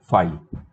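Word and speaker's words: phi: फी भी बोलते हैं कुछ लोग, उसको फी बोलते हैं, फाई भी बोलते हैं, डिपेंड्स. ठीक है, एम्प्टी सेट का सिंबल.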